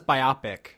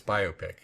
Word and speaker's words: biopic: I always thought it was biopic. No, it's biopic. Like, I get it, it's biographical picture, but it's just the